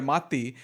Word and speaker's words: Matti: It's about 2 hours long, and the first half is where Matti, that's how they say his name with both T's pronounced, so he talks for